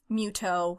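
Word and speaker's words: Mytho: have mute oh who his name is Miss OH spelled myth alike myths but I was a little too on point it is Japanese way to pronounce that it just comes out to mute oh and when the localizer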